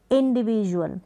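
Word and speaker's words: individual: तो D अगर U के साथ कनेक्ट रहता है तो इसको करेक्ट कर ले, U के साथ कनेक्ट, तब हम क्या करेंगे, D को ज प्रोनाउंस करेंगे।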